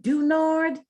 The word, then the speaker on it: Du Nord: Spell that name, Dunard.